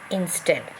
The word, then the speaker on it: instead: So you find here stead is stressed. Okay, divided into 2-syllable. In stead. So stress is given to stead.